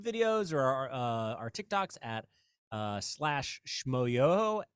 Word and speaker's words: Schmoyoho: But you can look at our YouTube videos or our TikToks at /Schmoyoho, SCHMOYOHO, accent on the yo.